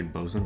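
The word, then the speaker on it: bosun: no that's fine bzen so this is um short for boat Swain but you always just say bosen anyway so it would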